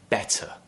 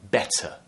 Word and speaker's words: better: So a flap is, if we take a word like better, better, I'm pronouncing that T very, very clearly, right? Better. Now, in other accents, which might be considered to be less RP sounding, you would hear better, where the T is actually replaced with a D sound.